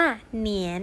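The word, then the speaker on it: 年: ปี ด้วย นะ คะ ปี ภาษา จีน นะ คะ ออก เสียง ว่า เหนียน ค่ะ เหนียว เปล่า ว่า กี่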